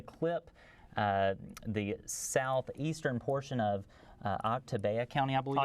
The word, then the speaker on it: Oktibbeha: It's going to clip the southeastern portion of Oktibbeha County, I believe it's pronounced. Oktibbeha County, thank you.